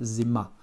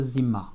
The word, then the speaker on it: зима: réduit pas en russe, donc on prononcera zima, en insistant bien sur le ma. Это zima. Encore une fois, Z, I, mon M et mon A. Это зима.